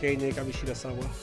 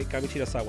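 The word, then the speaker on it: Kamishirasawa: I think Kamishawa and you have to say her name right. Okay. Kamira Sawa. It's not hard.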